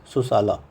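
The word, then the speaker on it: Sussala: Passed इनू the hands of princess उजाला एंड सुसाला। ठीक है? ऐसे ही प्रोनाउंस करते हैं इसको।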